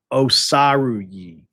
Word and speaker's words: Osaruyi: It's Osaruyi. There it is. Osaruyi. There we go. I think I've got it now. Paul Osaruyi. So, you've got the 2 4 stars, and now you got Osaruyi as well.